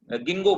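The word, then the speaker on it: Ginkgo: सर ये third वाले की प्रोनाउंसिएशन क्या है? थर्ड वाले का नीटम, गिंगो बोलते हैं, गिंगो, गिंगो बाइलोबा इसका एक मेंबर है।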